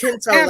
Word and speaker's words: Kento: keto. This is not a diet. It's Kento. Keto. No, it's Kento like a bean.